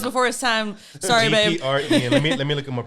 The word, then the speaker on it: DPR Ian: Is that how you say it, or how do you say it? Yeah. Dapper Ian? DPR. Oh, it's DPR. Okay. DPR Ian.